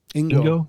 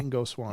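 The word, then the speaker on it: Ingo Swann: I mean, it was really, how do you pronounce his name? Ingo? Ingo. Yeah. Ingo Swan.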